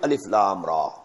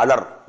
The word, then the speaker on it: Alif Lam Ra: Bismillahir-Rahmanir-Rahim, Alif Lam Ra. These are huruf muqatta'at. These are pronounced separately, and so they are the broken into pieces.